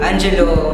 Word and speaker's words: Angelo: to pronounce my name i simply pronounced as angelo or you can call me jello or attends the next